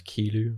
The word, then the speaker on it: Kilu: But Kilu came from. I get called all the time. And in French, there's this type of slang where you flip syllables. So instead of saying thank you, you'd say you thank in French, obviously. So I did it to and it became Kilu.